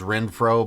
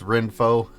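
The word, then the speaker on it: Renpho: reviewed it i think i mispronounced it last time uh as renfro but it's renfo but here's where we're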